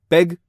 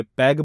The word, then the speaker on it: पैग: जैसे पैग की जगह आपने पैग बोला, घूंट की जगह घूट,